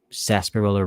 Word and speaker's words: sarsaparilla: the skin horsetail Coca-Cola Sarsaparilla root but it isn't spelled like how it's said it's spelled like sarsa perella some hurts for the